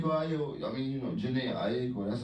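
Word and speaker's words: Jhené Aiko: I mean, you know, Janae Aiko. That's how you say her name. Janae Aiko.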